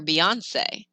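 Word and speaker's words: Beyoncé: think of the singer beyonce that e on the end gets pronounced if you forget it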